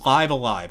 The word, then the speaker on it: Live A Live: never actually knew how to say this it's live alive it's like i never knew how to say